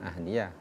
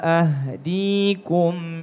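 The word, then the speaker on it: أَهْدِيكُمْ: ahdiakum il ahdikum bukan ahdiah ulangi wa illa ma illa ma aro wama ahdikum illa sabilar rasyaad Heeh.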